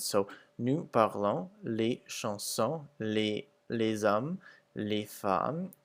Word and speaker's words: les hommes: So you'll see that the S's are pretty much not pronounced at the end of the words, except for les hommes, where it makes a Z sound.